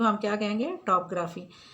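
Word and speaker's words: topography: और नेक्स्ट है टोपोग्राफी। टोपोग्राफी नहीं कहेंगे इसको, टॉपग्राफी कहेंगे। इसमें ओ साइलेंट है, सेकंड वाला ओ साइलेंट है, टॉपग्राफी।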